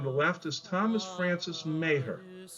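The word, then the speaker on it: Meagher: Second from the left is Thomas Francis Mayer. It looks like meager when you spell it, but it's pronounced Mayhor.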